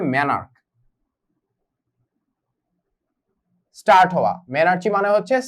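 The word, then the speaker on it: menarche: বাট বাংলায় যদি আমি এটার প্রোনাউন্সিয়েশনটা লিখি তাহলে হবে মেনার্চি, বাট অ্যাকচুয়াল প্রোনাউন্সিয়েশন হবে মেনার্ক।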